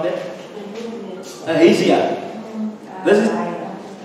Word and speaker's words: Ahaziah: How do you pronounce that? Ahaziah. This is. Ahaziah.